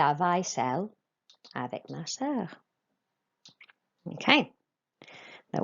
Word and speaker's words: vaisselle: Okay, we have AI, which is an A sound, not an I sound. Okay, it's an A sound. So vaisselle.